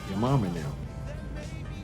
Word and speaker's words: YaMama'Nym: YaMama'Nym. That's how you say it.